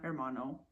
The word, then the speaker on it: hermano: so H doesn't exist you put it in a lot of words but it's silent hermano stuff like that right